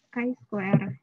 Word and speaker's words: chi-square: Ada uji T, ada uji F, ada uji ini bacanya chi-square.